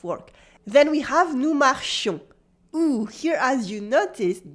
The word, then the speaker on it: marchions: Then we have nous marchions. Ooh, here as you noticed, the E was replaced by a yon sound with a nasal on. Nous marchions. Repeat after me. Nous marchions. The S is silent again.